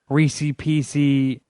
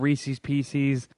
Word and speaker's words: Reese's Pieces: Reese PC.